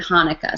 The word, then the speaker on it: Hanukkah: I'll just ask each of you to say Hanukkah. So Anatoly, Hanukkah. Hanukkah. Good. There's multiple ways to pronounce this because it is a Hebrew word, but for now we'll just say Hanukkah.